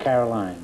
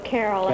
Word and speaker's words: Carolyn: Is that the way you pronounce it, Carolyn? That's Or correct. Caroline, huh? Oh, no, Carolyn.